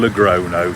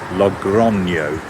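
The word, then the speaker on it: Logroño: From English pronunciation, Lagrono. Spanish pronunciation, I think. Lrono. Let's stick with the English.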